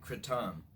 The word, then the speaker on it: kratom: It's called kratom, or some pronounce it kratom.